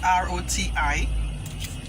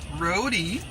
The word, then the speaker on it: roti: very flavorful so how we pronounce this it is spelled r-o-t-i and it is not roadie is not ratty that's how the guy when mentioned earlier on